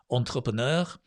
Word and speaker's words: entrepreneur: an entrepreneur entrepreneur it's a very very hard word to pronounce even for the british because it's stolen from french entrepreneur and in english we say entrepreneur there's lots of r's there there's the entre pro no entrepreneur can you say that entrepreneur